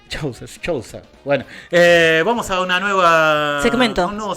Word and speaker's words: Chouza: Bueno, así pasaba Sergio Soucha, como dijimos, economista, docente de la UBA, de la Universidad de Avellaneda, director de la consultora Sarandí. Chousa. Y vamos, Chousa, no sé ni leer. Así se pronuncia, Chousa.